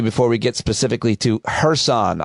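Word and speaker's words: Kherson: we get specifically to hersan I pronounced it Curson and you forgave me because you said even some Russians do it but before we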